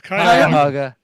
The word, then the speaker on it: Cuyahoga: And Cuyahoga, is that right? Cuyahoga Valley? Cuyahoga. I know. What is it? It's Cuyahoga.